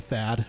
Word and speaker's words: Thad: Yeah, T-A-D. Because it's usually shortened from Thaddeus, so it's shortened to Thad, which is just T-H-A-D, and then it just gets evolved into Tad.